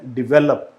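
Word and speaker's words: develop: तो ये जो वर्ड बोला जाता है वो किस तरीके से बोला जाता है, डिवेलप, इसे बोलते हैं डिवेलप, इसको बोला जाता है डिवेलप। तो आपका प्रोनाउंसिएशन जो है वो अच्छा होना चाहिए।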